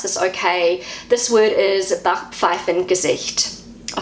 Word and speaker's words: Backpfeifengesicht: Hopefully I pronounce this okay. This word is Backpfeifengesicht. I'll say it again, Backpfeifengesicht. So that's how I say it as a New Zealander. This is how Google pronounces it. Backpfeifengesicht.